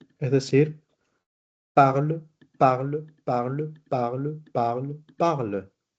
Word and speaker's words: parle: Entonces, lo que está marcado en rojo ustedes no deben pronunciarlo.